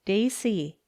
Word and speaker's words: Gracie: one of my names that is the way it looks on paper but i pronounce it daisy i'm a big tall